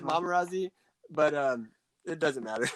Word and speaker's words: Momarazzi: a play on pap we pronounce it mamarazzi but um it doesn't